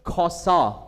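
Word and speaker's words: חסה: The word the the Hebrew word is koso. Okay, koso. And then then it is it is actually spelled like chasa but it is read koso.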